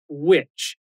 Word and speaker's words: which: Witch. W-H-I-C-H. E não é witch de bruxa. A pronúncia é a mesma, mas a escrita e o significado são diferentes.